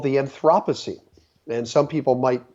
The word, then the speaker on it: Anthropocene: a new geological age that is called the Anthropocene and some people might pronounce it as the Anthropocene and what that word means when you break